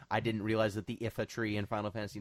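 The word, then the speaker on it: Iifa Tree: it was more I didn't realize that the if a tree in Final Fantasy 9 is pronounced if and not live up capital not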